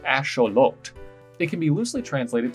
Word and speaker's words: axolotl: of the name axolotl turns out it's derived from the ancient aztec language nawatol and is actually pronounced asholot it can be loosely